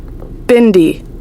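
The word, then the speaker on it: bindi: have a bendi b let's see how they pronounce it Bindy Bindy they don't know why they have a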